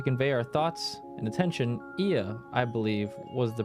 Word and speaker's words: Ia: When the vibration of vocal folds was still required to convey our thoughts and attention, IA, I believe, was the pronunciation used when referring to our people.